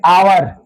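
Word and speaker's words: hour: यहां पे आवर। यहां पे इसको क्या पढ़ेंगे? आवर पढ़ेंगे। ठीक है? इसका उच्चारण क्या होगा? आवर होगा।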